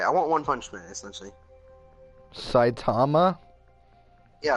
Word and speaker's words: Saitama: i was not watching this video i want satan i'm not pronounced alright i want one punishment essentially saitama yeah it's like tom i said satan then